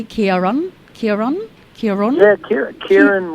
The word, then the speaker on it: Ciaran: i'll let you go and i did i pronounce your name correctly Kieran Kieran Kieran that Kara Kieran whatever way you